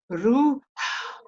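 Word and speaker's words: ܪܘܚܐ: And they said, no, it's ruha. Ruha. They just breathe the H-A. They don't say it. They don't voice it.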